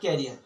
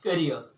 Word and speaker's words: career: CAREER is not carrier but career. This is career.